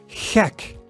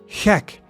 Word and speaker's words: gek: And the G sound is, for example, in gek, gek. And gek means mad, crazy. So it's the same guttural sound as the CH sound, but it's never pronounced as the English G, right?